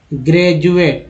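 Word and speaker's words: graduate: ठीक है, उसके अलावा डी को ड भी बोलते हैं, डी को ज भी बोलते हैं। जैसे एक वर्ड लेते हैं ग्रेजुएट। ठीक है, ग्रेजुएट, ग्रेजुएट में डी का उच्चारण ज के रूप में हुआ, ग्रेजुएट हो गया ना।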